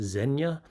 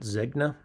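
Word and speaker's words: Zegna: in a comment that it's actually pronounced Zena not zna but uh I thought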